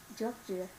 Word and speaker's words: judge: the judge judge judge. Okay, I okay, will and like this, practice. judge, judge. Judge It pronounced as, you're going to pronounce it as judge, judge. judge Okay, not judgy, just judge, judge judge judge no.